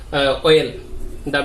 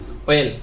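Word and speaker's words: whale: আর যেমন এখানে এসটা উচ্চারণ হবে না। তারপর বলতে পারি ওয়েল, WHAL, সরি এটা হচ্ছে LE, ওয়েল।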